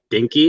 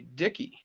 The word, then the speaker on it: DKKY: Dinky? Is that how you say it? DKKY sounds more like Dicky to me. Yeah. There's no N. So it'd be Dicky. Dicky.